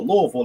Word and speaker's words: Louisville: of the Pan-African Studies Department at University of Louisville, or Louisville, is how they pronounce it.